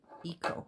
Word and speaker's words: Eco: they call it and this is an eco or echo some people call it's it's spelled like eco eco but i've heard i heard some people on their videos calling it an echo and it's a little